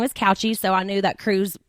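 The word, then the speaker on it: Cauchi: And Jax's last name is pronounced Couchy. It's not Taylor. That's his mom's maiden name, but his actual last name is Couchy.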